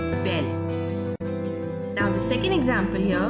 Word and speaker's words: belle: And the pronunciation goes like nouveau, nouvelle. Beau, belle, nouveau, nouvelle.